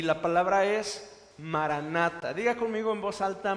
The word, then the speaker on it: maranatha: y la palabra es maranatha diga conmigo en voz alta maranatha maranatha significa el señor viene es una palabra que se escribe en griego pero es una transliteración del hebreo significa el señor viene